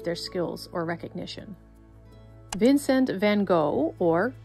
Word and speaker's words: van Gogh: Vincent van Gogh, or Vincent van Gogh, as he is Dutch, so that's how you pronounce his name.